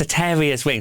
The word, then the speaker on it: Soteria's Wings: Yes, soteria'swings.